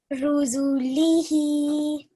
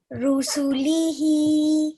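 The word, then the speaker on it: رسله: Ruzulihi, Good. Once more. ruzulihi. Okay. This is a scene. So how do we pronounce this? Su, Su. Good. Once more. rusulihi.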